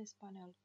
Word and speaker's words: español: Волнистая линия над буквой n означает, что звук нужно читать мягко. Español. Primeras frases en español.